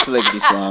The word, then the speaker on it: Sliggity Slime: It's Sliggity Slime.